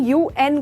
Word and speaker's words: UN: पर ये देखा, इसको मैंने उन नहीं कहा, इसको मैंने UN कहा। तो ऐसे जो अब्रीविएशंस जिनको लेटर लेके प्रोनाउंस किया जाता है उनके आगे द लगता है।